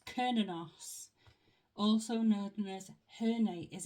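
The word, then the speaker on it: Cernunnos: 24 page 24 right it tells me how to pronounce it it's kinos also known as Hern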